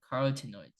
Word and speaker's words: carotenoids: I knew how to pronounce this, but I just forgot. It's a carotenoids.